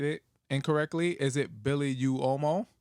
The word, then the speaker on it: Uomo: Is it Billy Uomo? It's like whoa, like Womo. Womo. UO in Italian is like whoa, like a little, like just a little W, tiny one.